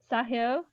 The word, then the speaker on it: Sahil: a double s and then someone else asked sahio did i pronounce that right yeah i do test for